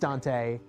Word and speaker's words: Duante: Good old Dante, spelled Duante, but pronounced Dante.